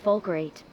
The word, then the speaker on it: Falkreath: That's Hotto, now it's Falkreath.